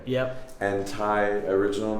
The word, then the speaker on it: Thai: No, Ty. I usually just like to go by Ty. That's my Okay. first name, but it is spelled Thai because I have hippie parents.